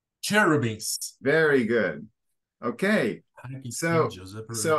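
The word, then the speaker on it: cherubim: who are terrible yeah CH is Chuck like church beans cherubis very good okay so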